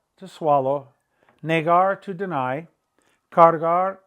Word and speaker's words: cargar: Cargar, to carry. Don't leave that middle R out.